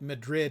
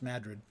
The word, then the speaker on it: Madrid: New Madrid Madrid is spelled like Madrid in Spain but it's pronounced Madrid look up New Madrid